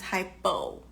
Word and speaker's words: hypo: The opposite of that, which means too little or to go below, means hypo. Hypo rhymes with low, correct? Hypo rhymes with low, and hypo rhymes with slow.